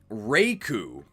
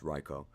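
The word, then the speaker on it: Raikou: type I'm not impressed reiku I think that's how it's pronounced uh I do live in Japan it's raicho Reiko extremely powerful if you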